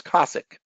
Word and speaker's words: Cosaque: But according to Keith, he says it's Cosaque.